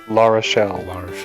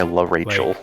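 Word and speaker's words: L'Arachel: La Rochelle. La Rochelle, okay. I'm trying to break my La Rachel.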